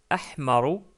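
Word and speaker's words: أحمر: Donc d'abord, le rouge qui se prononce ahmaru, ahmaru.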